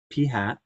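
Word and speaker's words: p-hat: called P hat that's how you say it P hat and it's a sample proportion okay he didn't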